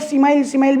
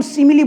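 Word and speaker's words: simile: देखो इस सिमिली को कई लोग सिमाइल भी बोलते हैं, है ना। तो प्रोनाउंसिएशन में डिस्टर्बेंस हो जाती है वहाँ पर। एक्चुअल में इसको हम सिमिली बोलेंगे। क्या बोलेंगे? सिमिली।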